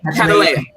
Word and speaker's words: Catalea: Catalia? That's it right? Or Catalea? Catalea. I did. I said it right this time.